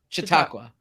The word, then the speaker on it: Chautauqua: it is no uh c-h-a-u-t-a-u-q-u-a how would you pronounce that I have Chautauqua Chautauqua okay thank you sounds like like shiitake mushrooms Chautauqua um so sorry about